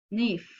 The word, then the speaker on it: knife: no we pronounce no in the word nif we don't pronounce can if or can if we pronounce knife because the leather Cape is invisible we don't know produce